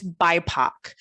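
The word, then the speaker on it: BIPOC: and i hope i hope i'm going to pronounce the acronym right but it's bipac b-i-p-o-c and it refers to black and indi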